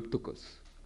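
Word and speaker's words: πτωχός: du vagabond, donc le ptokos. Le ptokos, ou ptoros, si vous voulez, dans la prononciation actuelle.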